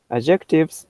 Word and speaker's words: adjectives: Okay, so pronunciation's fine, but it's really that intonation that changes it. So this is adjectives, the very first adjectives.